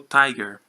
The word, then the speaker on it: TIGR: Instituto de Pesquisas Genômicas, conhecido como TIGR, pronuncia-se como Tiger, a ser dirigido por